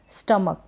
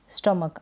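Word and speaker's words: stomach: फिर लास्ट में सी एच है, स्टमक, क्या पढ़ेंगे इसको, स्टमक। आप एक दो बार इन स्पेलिंग्स की प्रैक्टिस करें तो आपको आसानी से समझ में आ जाएगा।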